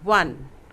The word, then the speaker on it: one: The letter O in 1 is pronounced as W. 1.